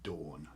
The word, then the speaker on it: don: or indo-european languages so dawn is spelt d-o-n in welsh but it's pronounced dawn yeah there's a place